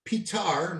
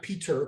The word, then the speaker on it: Petar: And as it so happens, our next topic of conversation is Croatia's Petar, not Peter, Petar with an A, Klancier.